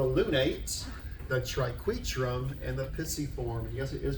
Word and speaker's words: pisiform: We have the scaphoid, the lunate, the triquetrum, and the pisiform. And yes, it is pronounced pisiform.